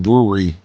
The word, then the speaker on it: brewery: By the way, you don't know how hard it is, even for native English speakers, to say the word brewery until you date someone from another country. Eventually, I suggest just ignoring the W syllable and saying brewery and people will get it.